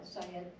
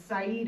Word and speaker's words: Said: So do you wanna talk about the guy that put it in, Syed? The Said? Syed. How Yeah, do you spell that? SAID, just like said. It's Saeed Abdul Abdallah.